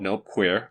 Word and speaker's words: Nope Queer: His name identifies him as A-E-I-O-U, but it's pronounced A-U, just to be clear. Next, we have Craig Jensen popping out. He's called Nope Queer, identified by the name tag N-O-P-Q-R.